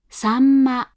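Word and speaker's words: 秋刀魚: Sanma, sanma, sanma. Again, before P, B, and M, the hatsuon is said as an M.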